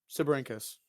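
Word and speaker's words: Sibyrhynchus: And I have trouble pronouncing the name a lot. If I mess it up, it's Sibirincus. Yes.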